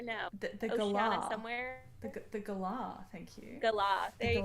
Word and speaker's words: galah: Well, isn't the gala from like your neck of the woods, or no? The Oceania somewhere. The galah, thank you.